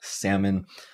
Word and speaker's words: salmon: And now, in the case of salmon, we see that the S, A, and silent L would be the stressed syllable salmon. And that would mean that even though we have an O in our writing for the second syllable, it will be reduced.